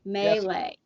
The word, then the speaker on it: melee: M- It is Long A L long A melee. Melee. okay. Melee. That's how the guy said it. I just pronounced melee.